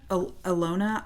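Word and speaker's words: Ilona: Alona. I L O N A Maher. I might be saying everybody's name wrong on this episode because I usually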